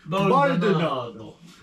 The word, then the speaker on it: Baldonado: Baldonado. Baldonado. Oh, yeah. Baldonado. That just sounds fancy. You gotta say it like an Italian. Baldonado.